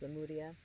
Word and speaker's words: Lemuria: to Lemuria, as I was told it's actually pronounced Lemuria.